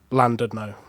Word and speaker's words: Llandudno: l a n d u d n o landed no yeah like as you would say in English